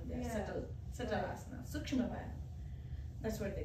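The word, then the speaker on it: vyayam: the previous one, they are subtle asana, sukshma vayam. That's what they call it as. Sukshma? Sukshma means very subtle, tiny. Oh. Vayam means exercise, asana, practice. Okay. Asana practice. Right. Vayam.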